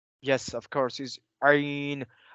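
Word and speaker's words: عين: Yes, of course, is Ain. And we will say it from the middle of our throat as Ha.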